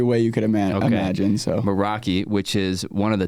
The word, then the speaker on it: Meraki: Meraki. Dang, but dude. it gets pronounced every way you could imagine. So Meraki, which is one of the top producing teams in the company.